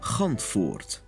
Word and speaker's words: Gantvoort: His name, pronounced correctly in Dutch, is Gantvoort.